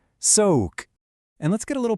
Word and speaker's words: soğuk: And cold is soğuk. You hear that soft gus sound at the end there? Soğuk.